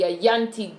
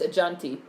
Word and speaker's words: Ajanti: I will trade the child for the Ayanti dagger. He really does not pronounce his J's. It's Ajanti.